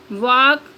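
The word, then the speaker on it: walk: एफ एम के for example का half टक वाक वुड शुड नेक्स्ट है silent N एन इज not pronounced N pronounce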